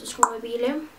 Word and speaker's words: Sinqobile: My name is Sinqobile. Pronounce it like you know the Q is there.